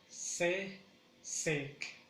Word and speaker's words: sesek: En el caso de frío, que es sesek, pronunciamos sesek. Aquí sí el acento o la mayor fuerza lo lleva en la segunda sílaba, que es sesek, sesek, sesek.